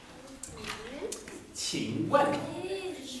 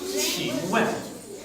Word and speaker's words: 请问: So if you don't understand me, you say 请问. The Q is pronounced like a train. 请问.